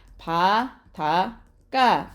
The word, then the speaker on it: 바닷가: 자, 그러면 뒷말의 첫 소리가 된 소리로 나는지 한번 보자. 자, 발음해 보세요. 시작. 바닷가 또는 바닷가 이렇게 되는 거죠. 그쵸? 자, 뒷말의 첫 소리, 된 소리, 뒷말의 첫 소리, 된 소리로 나네요.